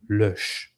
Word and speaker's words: Lösch: If you see a German name and you want to give an English pronunciation to it, you are gayifying it, and you should not gayify the sacred German names, the holy names from German. It is Lösch, Lösch, Lösch.